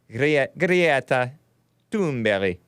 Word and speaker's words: Greta Thunberg: Samuel from Sweden taught me how to pronounce Greta Thunberg. Greta Thunberg.